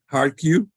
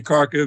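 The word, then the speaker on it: Kharkiv: this bus is currently in dead storage okay now welcome to kharkif our uh how do you pronounce it properly hard cue but I'm going to say cargo because that's uh the English pronunciation this well let's first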